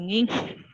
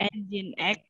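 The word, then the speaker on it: nginx: Kemudian yang ketiganya ada, bacanya apa itu, Nging? Kemudian X. Ya, oke. Engine X ya.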